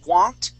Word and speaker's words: want: take okay so yes I pronounced the t's there but want okay that t is hidden I want you and